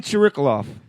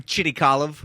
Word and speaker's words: Chirikalov: Mike Tyree, and across from me is Tim Chirikalov. What's up? Well, I stuttered in my head when I said it, but it came out right, didn't it? Yeah, if you want to get fancy, Tim Chirikalov.